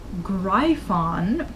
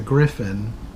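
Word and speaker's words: Gryphon: little sense and they wander off to the greif on yes according to them was apparently the way to pronounce that like everybody pronounced it as greif on its a Griffin I don't know where they got the pronunciation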